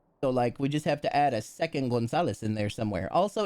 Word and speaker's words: Gonzalez: Where's the C come from them? There is no C. It's Gonzalez. You say Ganazili? Ganazili? Gonzalez. Gonzalez with a Z as in Z.